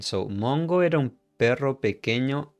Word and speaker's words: pequeño: Pequeño. We don't pronounce the U when it's between these two letters. Okay, Q and E. Pequeño.